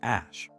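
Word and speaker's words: Æ: Ae was pronounced ash.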